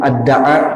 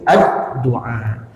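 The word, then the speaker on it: الدعاء: Nah, jadi bukan ad-da'a bacanya kan, tapi ad-du'a.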